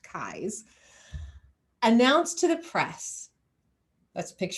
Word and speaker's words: Keyes: On May 26th, just 8 days after Aimee's disappearance, Los Angeles District Attorney Asa Keyes, I always want to pronounce his name differently because it's spelled Keyes, but it's pronounced Keyes, announced to the press,